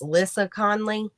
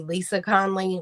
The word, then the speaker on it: Lissa Conley: Now I really would recommend I think her name is pronounced Lissa Conley. It may be Lisa Conley, but it's Lissa.